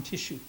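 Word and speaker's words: Teshew: A descendant of mine who I like is Captain John Tissue. And it's spelled many different ways, much like you would see the Kleenex, and T-E-S-H-E-W.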